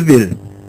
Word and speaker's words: ville: Des mots comme bi et ville s'écrivent de la même façon, il. Cependant, ils ont une prononciation différente. On dit bi et ville.